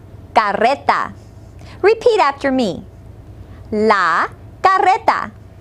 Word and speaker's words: carreta: second word is cart be sure to roll your R listen La Carreta repeat after me La